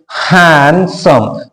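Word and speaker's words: handsome: letter से चालू हुआ ऐसे समय पर डी को हम साइलेंट रख देते हैं यहां पर देखिए हैंड सम तो दो शब्द है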